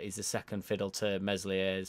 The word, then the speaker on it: Meslier: the second fiddle to meslier's silent s and when i say